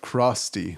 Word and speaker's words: Crosty: today we are with George the founder of Krusty that's how you say it right yep um